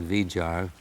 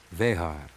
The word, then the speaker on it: Vejar: I know they call it Vijar, but he's a Chilean, and I've got to go to the Spanish pronunciation, being a purist. Vejar. Chico Vejar.